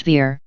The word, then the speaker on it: Weor: Word or verb is within Weor, which is pronounced Veer, so the W is the V sound.